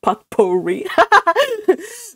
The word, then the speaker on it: potpourri: The jar of potpourri, Cousin Stickles pronounced it as it was spelled. Oh, potpourri.